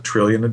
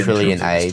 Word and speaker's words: Trillionage: And, you know, and then we just always pronounced it like trillionage, so because it sort of sounds like a plant that way.